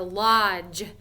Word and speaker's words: lodge: might stay at a lodge. Sometimes it's like made out of wood. It's pretty cool. Lodge. So it makes that J sound that says J, but it's spelled DGE. Lodge.